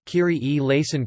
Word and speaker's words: Kyrie eleison: In ecclesiastical Latin, a variety of pronunciations are used, the Italianate Kyrie eleison, Chris te eleison having been proposed as a standard.